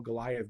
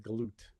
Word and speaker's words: Goliath: but and because it sounds like some people will call Goliath Galut, Yeah. be another pronunciation.